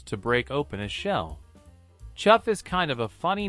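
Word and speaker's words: chough: break open a shell chuff is kind of a funny name for a bird it's easy to pronounce this bird's name if you say it like you're saying the word chef these birds have black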